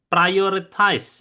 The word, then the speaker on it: prioritize: Jadi, oh i jadi melafalkan prior prioritize ya prioritize. Jadi pelafalannya itu pra yo re.